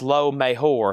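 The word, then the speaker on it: Lo Mejor: J is H in Spanish. Low Mejor de Kiss. And then Jerry Rock on Blondie. And then Noah Colwell on the Eagles. And then Leslie next on Blondie. It's pronounced Low Mejor.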